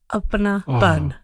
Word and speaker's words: Apnapan: How is it pronounced? Apnapan.